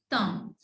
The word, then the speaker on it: thumb: The fifth one is she twisted her thumb. She twisted her thumb. Again, B is silent over here.